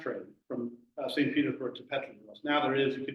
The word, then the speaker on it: Petrozavodsk: of Petrozavodsk or Petrozavodsk, because of course all E's in Russian are sort of a Y-E, so it's a Y sound. So my pronunciation not that good, but instead of Petrozavodsk, it's Petrozavodsk.